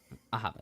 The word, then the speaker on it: Ahava: How is it pronounced? Ahava, yeah.